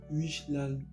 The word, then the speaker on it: Wijnaldum: Bah oui, Mané, le PSG, ils ont recruté, franchement, cette année, Ramos, Hakimi, Wijnaldum. Ouais, ça se prononce comme ça.